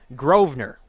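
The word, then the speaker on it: Grosvenor: outside corner it's pronounced groer silent s which is bizarre but we'll take the kuit kers announcers word for it grer so groer in for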